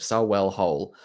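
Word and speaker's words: Sarehole: suppresses creativity uh so I went to saell I can can pronounce it sell hole the the place that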